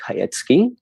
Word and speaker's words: Chajecki: introduce yourself yeah um my name is hayetsky i'm a photographer specializing in interior design and